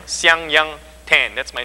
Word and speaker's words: Siang Yang: And by the way, that's how you pronounce my first name, and Richard got it right. It sounds like Yang Yang. And you put an S in front, you get Siang. Siang Yang Tan, that's my name, okay?